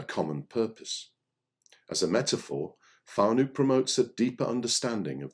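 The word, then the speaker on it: whānau: word on the screen w n a u pronounced fu is a marry language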